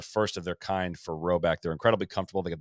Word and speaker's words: Rhoback: So if you haven't already, time to load up on some Roback, both for yourself and for others.